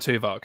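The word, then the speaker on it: Tuvok: they've got uh lieutenant tuvak who is oh see that's an easy win isn't it yeah gotta have a spot his name sounds a bit like spock spock yeah rhymes with spock man that's a gimme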